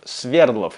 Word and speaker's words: Свердлов: Нашего парня зовут Федор Свердлов. И в данном случае я ставлю ударение на первый слог, только потому, что так произносят в этом фильме.